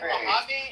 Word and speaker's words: Mojave: I think actually in the um Mojave Desert they have the strongest and here well Mojave and then you said it right.